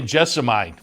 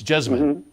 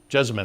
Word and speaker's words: Jessamine: good because as they say I've heard it pronounced a couple of ways Ken mcpeet just corrected me though I would say Jessa Mike for the the stakes race up at Keeneland it's jessamine jessamine according it and he lives there so it's